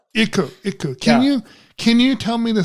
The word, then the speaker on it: Iku: Your mascot is Iku. Is that how it's pronounced? Iku, yeah. Iku.